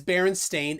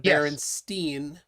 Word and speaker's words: Berenstain: clear it up um it is baron stain a i n instead of berenstein which is what people typically pronounce which would be well